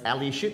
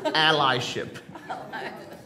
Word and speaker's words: allyship: is now if now if you're tempted like me and my wife to pronounce it as ali you are wrong it's ally ship okay let's read a